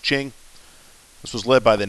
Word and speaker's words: Qing: the overthrow of the Ching Dynasty it's spelled with a Q here but it's pronounced Ching this was led by